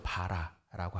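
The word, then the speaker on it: ברא: 나타내는 두 단어가 있습니다 하나는 바라 한국어 발음으로 봐라라고 하고요 하나는 아사라고 합니다이 바라의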